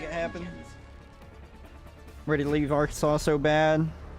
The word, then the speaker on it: Arkansas: nice here to be is it Arkansas or our Kansas it's Arkansas I think technically there's a law saying that you can't pronounce in Arkansas it's one of those weird little laws I think technically you aren't actually allowed to speak or aren't actually allowed to legally um say pronounce Arkansas as our Kansas if I remember right